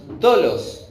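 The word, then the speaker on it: δόλος: Esta palabra engaño es dolos, ¿sí? Con acento en la O también, en el griego, que significa atrapar con anzuelo, acechanza.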